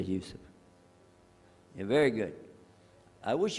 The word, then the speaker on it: Yusuf: My name is Yusuf. Can you say Yusuf? You say Yusuf.